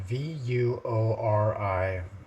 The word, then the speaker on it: Vuori: So it's spelled V-U-O-R-I, and I say it Vuori. I think that's right. Could be wrong.